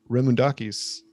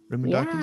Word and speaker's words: Remoundakis: And if you guys are just tuning in, we're with Ari Remoundakis. Did I say it right? Remoundakis?